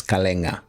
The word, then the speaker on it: Kalenga: Well, most people, they call me Kalenga, but the correct pronunciation is Kalenga from Northwestern. It's Kalenga, aka.